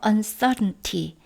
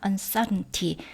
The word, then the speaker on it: uncertainty: uncertainty. 네, 저는 이 T 발음이 잘 안 나게 발음이 되거든요. uncertainty. 근데 물론 uncertainty 하고 다 발음해도 되겠죠.